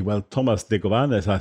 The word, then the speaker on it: Negovan: But it's Negovan. That's the way he's pronounced in the United States where he lives.